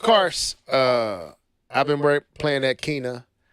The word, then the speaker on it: Kena: Of course, I've been playing that Kena. Kenu, is that how you say it, Keith? How you say it? Kena.